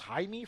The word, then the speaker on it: Jaime: It's spelled Jamie, but somehow it's pronounced Jaime, from what I understand.